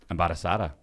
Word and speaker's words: embarazada: Embarazada. Muy bien. Sounds like empanada, but That's Spanish one kicking in, baby.